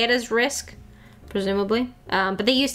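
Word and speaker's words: RISC: risk V okay okay typically pronounced risk and arm that makes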